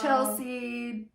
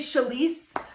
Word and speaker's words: Chalese: nobody could ever say it, and I was always Chelsea, Charlie sometimes. Right. And so, like, I had to get good and confident with saying my name. My name is Chalese.